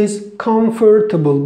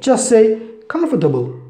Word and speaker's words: comfortable: where this word comfortable most of the people say is comfortable but again we don't use this syllable just say comfortable yeah comfortable native speaker says comfortable okay and this is